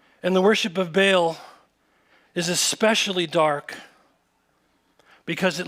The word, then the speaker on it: Baal: of the worship of, it's actually pronounced Baal. But that's really hard to say when you're preaching, so we're going to say what every other preacher says, and we're just going to call him Baal.